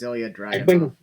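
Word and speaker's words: Ilja Dragunov: Finn Balor against I cannot pronounce this guy's first name. It's Ilya Dragunov.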